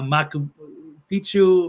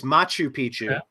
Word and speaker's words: Machu Picchu: Mexican pyramids um what's I forget inor watt maku Pichu am I pronouncing all this stuff right there's there remnants of it's angor It's angor watt it's Machu Picchu in Peru what else were the other ones